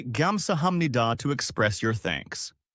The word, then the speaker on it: 감사합니다: The pronunciation is 감사합니다.